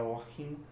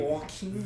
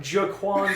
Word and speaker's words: Joaquin: Yeah, Joaquin. Thank you. Joaquin. This jabron called him Jaquan Phoenix.